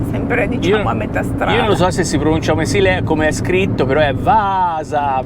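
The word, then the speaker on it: Vaasa: written but it is vasa because there is two a's between you and me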